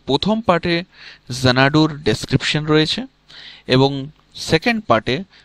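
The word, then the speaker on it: Xanadu: এটার উচ্চারণ হচ্ছে জোনাডু।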